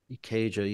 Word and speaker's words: Ikeja: And so the first basic tracks were done at ARC Studios in Ikeja. Is that how you pronounce it? Ikeja, yeah.